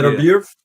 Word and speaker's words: Beterbiev: Beterbiev.